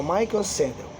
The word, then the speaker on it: Michael Sandel: Ele é um professor universitário da faculdade de Harvard, uma pessoa muito conhecida, Michel, se escreve Michel, Michael Sandel, mas se escreve Michel, aí Sandel é S-A-N-D-E-L, Michael Sandel, tudo bem?